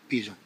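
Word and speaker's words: pigeon: حيت كاين هاد الجيم وراها تتقرا بيجون. فهمتي؟ كون حيدو لهاد او كانت غتقرا بيجون. شتيها؟ هما راه حطوا هاد او بالضبط باش هادي تنطق الجي.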